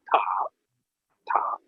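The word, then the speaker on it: 塔: And in Chinese pronunciation, that is called ta, pagoda.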